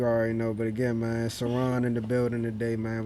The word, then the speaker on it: Sirron: It's Sirron, you know what I'm saying?